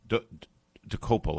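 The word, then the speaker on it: Dokoupil: His name is Tony Dopal. Docel, I believe is how you pronounce it.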